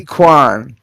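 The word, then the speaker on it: Quan: Kwan, thank you for reprising in this role. Yeah, it's Kiwi. Kiwi Kwan.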